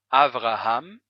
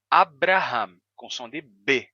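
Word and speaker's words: אַבְרָהָם: hoje em hebraico como avraham ou avraham né dependendo de como você use a pronúncia do r r ou R Abraham Abraham antes era Abraham com som de b não V Abraham ou o nome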